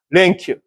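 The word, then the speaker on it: 連休: 랭큐, 랭큐. 우리 연휴라고 하잖아요. 연휴면 쉬는데 연 달아서 이어서 그 일본 연자를 랭이라고 읽는다는 거예요.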